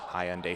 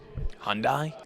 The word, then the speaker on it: Hyundai: Fun fact, every clown in this convention can fit in one black Hyundai Sonata. Hyundai? It's not Hyundai. It's Hyundai.